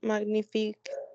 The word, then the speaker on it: magnifique: Ces roses sont magnifiques. Sont magnifiques. Magnifiques. Regardez, quand nous avons GN, se prononce comme l'espagnol ñ. Magnifique. Magnifique? Non. Magnifique. Magnifique. Parfait. Très bien.